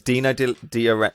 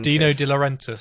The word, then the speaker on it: Dino De Laurentiis: then well what they get offered first is dino de diore i can always say his name wrong dino dealer dino de laurentiis yes so he um he basically keeps badgering